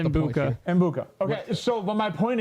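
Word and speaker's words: Egbuka: I haven't really looked. I don't know. It's Mbuka. I'm trying not to say Rare Reynolds because I think that sounds maybe offensive, and that's not the point. Mbuka.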